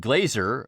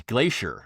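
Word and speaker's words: glazier: they mispronounce it and they see the word and they they pronounce it as glacier, you know, like like the the snow wy thing.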